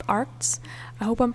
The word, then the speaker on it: Arrtx: by this brand called arts i hope i'm pronouncing it okay i think it's meant to sound like art which is super cool